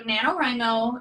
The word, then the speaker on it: NaNoWriMo: even starting a manuscript or whatever um so nanowrimo or national novel writing month is the actual it's taking the first syllable see okay um began in 1999 and